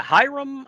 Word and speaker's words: Hiram: Yeah, Hiram, I think is how it's Hiram. pronounced.